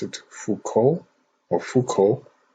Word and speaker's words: Foucault: in the comments below so it's f-o-u-c-a-u-l-t i pronounce it fuco or foucault correct me if i'm wrong so